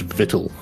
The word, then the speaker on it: victuals: It's pronounced vittle.